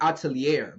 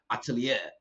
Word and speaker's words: atelier: say this word because I was saying Shilaken atelier, but that's not how you say it. It's like atelier.